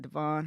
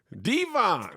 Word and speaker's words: Devon: His name is Devon, not Devon.